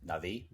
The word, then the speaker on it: Na'vi: Na'vi.